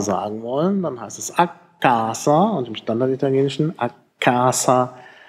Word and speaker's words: a casa: nicht der Fall ist, also a casa ist die richtige Aussprache mit einem langen K.